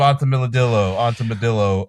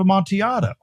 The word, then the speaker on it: Amontillado: What's it pronounced? A cask of Amontillado.